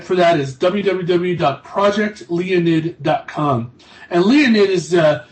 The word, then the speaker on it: Leonid: Leo, like the constellation Leo, Leo. And N-I-D, Leonid.